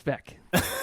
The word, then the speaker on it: Veeck: actually, but it's Bill Veeck. There will be an editor's note. Editor's note. It's pronounced Veck, like wreck.